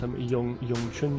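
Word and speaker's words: 詠春: Wing Chun, you know, in a Mandarin, by the way, it's Yong Chun Chuan, so you'll hear me pronounce it that way, Yong Chun, okay, Wing Chun, in different videos.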